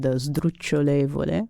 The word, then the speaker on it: sdrucciolevole: So I chose the word 'sdrucciolevole' which I guess is not used very much because it's a little bit difficult to pronounce. Because of that beginning s-d-r?